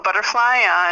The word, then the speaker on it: Bloodrfly: Be sure to follow Bloodrfly on Twitter and YouTube. It's Bloodrfly. I said butterfly.